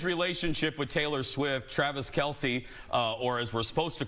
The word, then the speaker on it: Kelce: See, we've all been saying Kelce when it's actually pronounced Chalamet. I am joshing, of course. According to a discussion on Inside the NFL, the correct pronunciation is Travis Kelce.